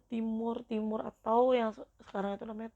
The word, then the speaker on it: Timor Timur: Bacanya Timur Timur atau yang sekarang itu namanya Timor Leste.